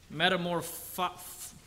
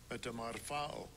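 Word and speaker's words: μεταμορφόω: we think of this word, this Greek word, metamorpho. I'm going to play that word for you, just so you know how to say it, because I'm going to butcher it. Strong's G, 3339, metamorpho.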